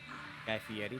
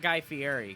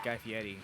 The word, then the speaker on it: Guy Fieri: Guy Fieri. That's how you say it. It's not Guy Fieri. Guy Fieri is wrong. It's Guy Fieri. That's the correct way to say it.